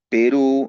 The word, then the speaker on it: Perú: Mira, si analizamos su acento, el acento está en la última sílaba, ¿no? P ru, ¿no es cierto? Ahí está el acento.